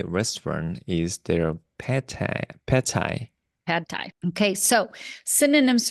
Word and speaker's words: pad thai: Pad thai.